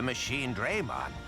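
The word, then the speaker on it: Machinedramon: for uh Gigimon uh I grew up my whole life saying machine drum on uh I guess in English uh he's technically pronouncing it correctly cuz you have uh two vowels separated by consonant so it should go a long a but uh it just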